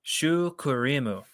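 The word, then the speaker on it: シュークリーム: for cream puff, and that's going to be shu kurimu. Shu kurimu is spelled sh h u k u r i mu.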